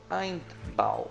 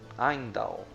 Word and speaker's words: Heimdall: Temos Eindbal ou Heimdall, alguns pronunciam de um jeito, outros de outros.